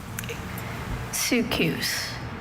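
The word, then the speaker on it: soukous: Sukus.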